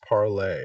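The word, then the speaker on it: Parler: makes really good sense spelled parlor pronounced parlay I had no idea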